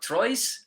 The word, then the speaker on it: Troyes: 8 appearances for Troyes, I believe that's pronounced. They play in Trois. League 1. It's pronounced Trois.